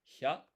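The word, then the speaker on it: ひゃ: It's not hi and ya, it's hya.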